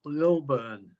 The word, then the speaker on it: Lilburn: Oh, my last name is spelled spelled pronounced Lilburn.